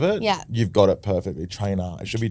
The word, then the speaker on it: Traynor: Trainer. Yeah. Okay. I was worried cuz it's It's got a few different pronunciations there.